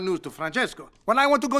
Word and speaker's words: Francesco: car his name is Francesco Bernoulli no wonder there's a crowd wait why do you know his name I don't say it like that it's three syllables not ten what he's nice to look